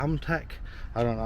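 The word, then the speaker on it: AMETEK: I always pick these places where I don't know how to say it, but it's spelt A-M-E-T-E-K, so it's Amtech or Amatech, NU Amatech.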